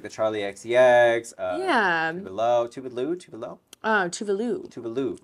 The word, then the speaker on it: Tuvalu: Tuvalu. Rhymes with Scooby-Doo. Tuvalu.